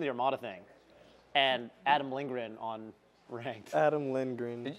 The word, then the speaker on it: Lindgren: all the same Adam lingrin is that how you pronounce it Adam Lindgren yeah I like our mind on your face right like lean grin Lin grin Lin g-r-e-n it's g-r-e-n Gren is he good he's